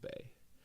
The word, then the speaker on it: Bae: and it's spell vay my next album is actually called Bay and it's spelled BAE Y as in like it's an